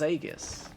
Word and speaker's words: Aegis: I didn't know it was Aegis.